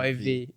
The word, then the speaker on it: Ewe: Il s'écrit Ewe, mais on dit Bon, Ewe.